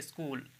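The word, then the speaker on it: school: हो गई और फिर स्कूल स्कूल ठीक है स्कूल च नहीं पढ़ेंगे ठीक है मतलब च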